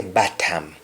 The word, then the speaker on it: batam: have o in them where you see o just place a or a and the word bottom will be bottom the word from will